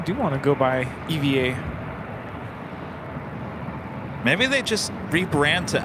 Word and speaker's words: EVA: said to Kevin regarding the whole Eva Eva debate what what does ATC say call sign you said Eva it's Eva that's their call sign I don't know but I do remember zinon saying they it's said both ways I mean he's from